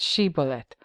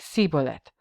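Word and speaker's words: shibboleth: each suspected Survivor to say the word she bullet the ephraimite dialect resulted in a pronunciation that tugiliadite sounded like sibolet in Judges chapter 12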